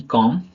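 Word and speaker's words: comb: क्या होता है एम के बाद आया बी साइलेंट होता है एग्जांपल देखेंगे सी ओ एम बी कॉम बी ओ एम बी बम टी एच यू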